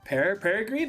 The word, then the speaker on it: Peregrine: Peregrine, like the bird.